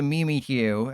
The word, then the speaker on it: Mimikyu: But they know I can't knock out the Mimi Q. And yes, that's how you say it.